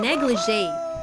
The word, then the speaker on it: negligee: No, negligee. There is a pronunciation, so rhyme, yeah?